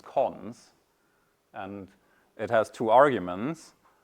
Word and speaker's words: cons: And this one is pronounced cons.